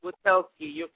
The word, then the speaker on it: Wachowski: You did mention that, and I hope I'm pronouncing it correctly, the Wachowski brothers. Was that their name? The solar name? Yeah, that's their name. Well, yeah, okay. Andy and Larry Wachowski.